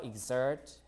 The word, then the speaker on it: exert: like this right example so gz or exert exert like this uh gz right but extra like KS